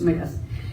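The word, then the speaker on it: Smyth: of Andrew Smith uh spelled with a Y but pronounced myth uh he's a veteran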